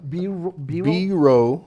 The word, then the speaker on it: Biro: guy that's biro brindle he's a biro be wrong be like be road like ROH basically it's bro that bro okay biro god I've